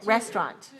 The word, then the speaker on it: restaurant: I'll tell you what this word can be pronounced in more than one way but I'm going to pronounce it this way and I want you to listen to the way I'm pronouncing it at this moment and tell me how many syllables you hear restaurant how many here how many do you hear me saying restaurant two syllables you hear me say